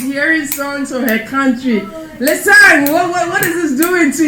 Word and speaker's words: Lesang: Lesang is spelled Lesang, but the ng makes it the sound.